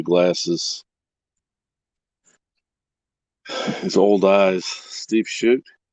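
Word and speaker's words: Shutt: Steve Shoot. Shoot or Shut. I think it's Shoot is how it's pronounced.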